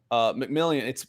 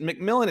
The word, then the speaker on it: McMillian: We love the way McMillian. Is it McMillan? It's spelled McMillian. I think it's McMillan. Jaquan, the way he played.